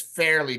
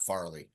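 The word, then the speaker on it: Fairleigh: and see yeah and it's fairly Dickinson not Farley my bad but I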